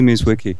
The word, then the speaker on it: Mierzwicki: Mizwiki. Mwicki. Yes. Okay. It's not easy, people. Okay. It's not easy to pronounce these things.